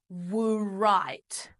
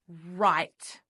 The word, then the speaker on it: write: We don't say wite. No, the word is right. So that W is what we call a silent letter.